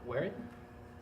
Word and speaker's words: Waring: Vanessa Waring, that's how you pronounce her last name.